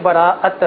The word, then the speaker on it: براءت: بسم اللہ الرحمن الرحیم۔ اصل لفظ شب براءت ہے۔ ٹھیک ہے۔ براءت کا معنی چھٹکارا ہے، تو چھٹکارے کی، نجات کی شب اس کا اصل تلفظ ہے۔ تو اس کی اگر